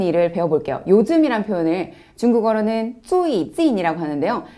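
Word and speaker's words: 最近: 요즘이란 표현을 중국어로는 最近 이라고 하는데요. 사실 이 最近 은 최근이라는 한자의 중국식 발음이에요.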